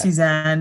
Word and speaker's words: Tsu Shan: when we first spoke it's pronounced suzanne and yeah yeah because